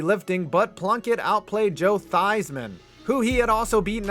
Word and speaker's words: Theismann: but plunkett outplayed joe theismann who he had also beaten out for the heisman back in 1970. these men changed the pronunciation of his last name to rhyme with heisman and he still did